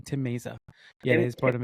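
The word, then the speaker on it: Mayza: Mazza. Oh, Tim Meza. I always say his name wrong. Tim Meza.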